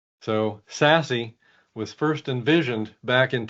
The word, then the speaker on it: SASE: is the the acronym it's pronounced sassy so sassy was first envisioned back